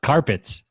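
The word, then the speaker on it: Card-Pitt: and it says pronounced carpets and they went oh and 10.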